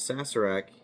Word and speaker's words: Sazerac: Sassur rye. And is sassarak. I know some of you will see the Z there. That is not the correct cron correct pronunciation.